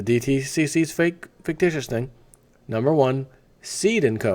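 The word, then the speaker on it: Cede: Essentially, the one way everyone owns stock is, number one, and this is the DTCC's fictitious thing, number one, Seed & Co., and that's spelled C-E-D-E, by the way.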